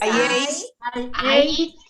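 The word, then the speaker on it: ate: Entonces, Eight este es el pasado, que se pronuncia 8 como el número 8.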